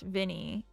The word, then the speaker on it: Viny: Wait, your name is pronounced Vinnie, even though it's spelled viny.